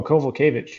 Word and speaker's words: Kowalkiewicz: Oh, Kowalkiewicz.